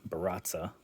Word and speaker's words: Baratza: our Encore Baratza, and excuse me for pronouncing it wrong at the beginning, but it is the Baratza model.